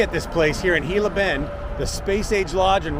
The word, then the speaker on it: Gila Bend: And across the street, we are in Gilla Bend. Don't pronounce the G, not Gila Bend. People will laugh at you. It's Gilla Bend.